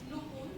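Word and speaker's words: Noopur: Can you pronounce it for me? Nur.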